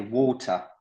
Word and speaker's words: water: Ok, Donc, c'est water, tu vois. water, water, ok, Voilà, le A, là, ça va être un O du coup.